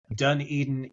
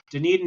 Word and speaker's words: Dunedin: Dunedin, Edinburgh. And there's a lot of Scottish people that came here back in the day, so there's a lot of architecture. Dunedin is south of Christchurch, also on the east